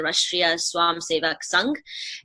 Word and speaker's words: Rashtriya Swayamsevak Sangh: So the RSS, which, the correct way to say it is the Rashtriya Swayamsevak Sangh.